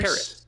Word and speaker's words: Terrace: There's no N in his first name. Oh, is it It's Terrace? Terrace.